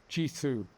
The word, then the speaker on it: Jithu: Jithu7573 says, if you have difficulty with my name like last time, it's pronounced Jithu.